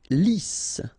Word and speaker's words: lisse: Lisse. Double S here, so it's really a strong S. Lisse. Okay, don't insist on the final E.